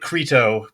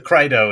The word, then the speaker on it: Crito: Yeah, it looks like crito, but it's the krito is what the people say.